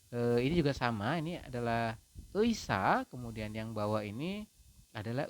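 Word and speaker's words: 의사: Jadi ei ini, huruf ei yang satu ini apabila dia di depan maka dia dibacanya adalah ei teman-teman seperti ini. Kemudian ini juga sama, ini adalah eisa, kemudian yang bawah ini adalah eimi seperti itu.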